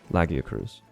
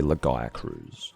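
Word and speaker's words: Lagiacrus: name peaberry which is so I say lagia Cruz Americans say lagaya Cruz lagaya Cruz but I get the uh the choice of pronunciation because if you think about Gaia as in Earth that is the pronunciation of Gaia so yeah I don't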